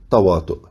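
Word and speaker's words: تواطؤ: Y en esto consiste la sabiduría que está detrás de la palabra tawato, que se pronuncia tawatu en la narración del profeta, que quiere decir coincidencia nominal.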